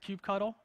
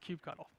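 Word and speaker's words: kubectl: all the way on the left is called cube cuddle don't let anybody tell you it's pronounced differently it's called cube cuddle so that's the architecture which we went over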